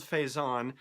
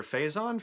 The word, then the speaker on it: Faison: I left out was Donald Faison or Faison Faison oh here we go with pronunciation who you probably know best as Turk on Scrubs he is playing a character character called hype Faison faz o n compared to his FA is o n so it should be